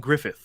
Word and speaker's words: Gruffudd: Name a Ioan Gruffudd. Mr. Fantastic. That is correct. That is a Ioan Gruffudd. That is correct. Even though Griffith is spelled with 2 D's at the end. So, yeah. Well, he's Welsh.